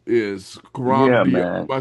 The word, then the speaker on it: Coram Deo: Tell us what Coram Deo is. Coram Deo.